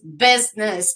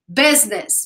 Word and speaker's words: business: in the word business business I know that some people just have just find some difficulties in pronouncing this word so just repeat business business business like Z sound business business English expressions